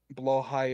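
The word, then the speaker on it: Blåhaj: and blow highs exist who below high or Blaha yeah below high is I believe the correct pronunciation from Sweden so just to speak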